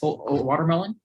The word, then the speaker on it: watermelon: The reason why we call it watermelon is because it has 4 syllables. So we go watermelon. So that's 4 syllables. Watermelon. 1, 2, 3, 4.